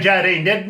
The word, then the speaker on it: Jardine: I've got to welcome along Jardine.